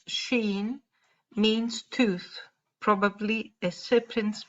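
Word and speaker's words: ש: let's see and veronica shin pronounced sheen means tooth probably a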